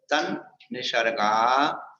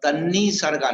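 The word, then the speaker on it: तन्निसर्गा: तन निसर्गा दधी गमात वा। अब तन्नी सर्गा नहीं पढ़ना, क्या पढ़ना? तन्नी सर्गा नहीं पढ़ना, तन निसर्गा पढ़ना।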